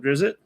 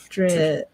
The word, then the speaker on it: Drizzt: It's called The Thingies of Drizzt? Legends, I think. Legends. I don't know. It's just really good. And Drizzt.